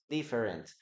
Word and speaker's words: different: Okay, we don't pronounce the letter E here.